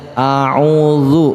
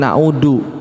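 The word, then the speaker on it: أعوذ: baca audzubillahiminasyaitonirojim coba Perhatikan cara bacanya a'udzu bukan audu ya Audzubillah ya bukan Audzubillah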